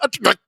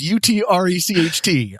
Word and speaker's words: Utrecht: Yeah, I did say Utrecht because it's the first time I'm trying to pronounce it. It's Utrecht.